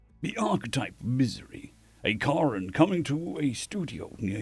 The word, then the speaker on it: Karen: Because in South Africa, Karen is pronounced Karen, not Karen.